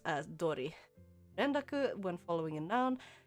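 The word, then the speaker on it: 通り: as in otatori, as I thought, but it's pronounced as dori.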